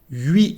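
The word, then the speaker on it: huit: 8 livres. Here, as you can see, we don't pronounce the letter T at the end when we have a consonant.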